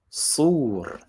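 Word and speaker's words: صور: And strangely, in Arabic, it's not pronounced this way. It's actually pronounced sur.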